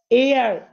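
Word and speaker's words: heir: এয়ার, এন এয়ার, উত্তরাধিকারী।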